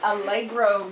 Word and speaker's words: allegro: hey in music what does algro mean and that is how you pronounce it because as most of you know